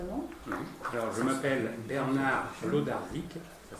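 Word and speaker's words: Wlodarczyk: Alors, je m'appelle Bernard Lodarczyk, ça s'écrit W-L-O-D-A-R-C-Z-Y-K.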